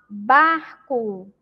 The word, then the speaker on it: barco: Na palavra barco, a letra re aparece aí antes da letra C, que é uma consoante, tá? Então, vamos pronunciar. Pronuncia aí junto com a pró, para a gente perceber o som forte da letra re.